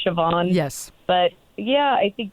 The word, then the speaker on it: Siobhan: so um you know you look at it it looks like thean but it's not it's the Irish sioban yes but yeah I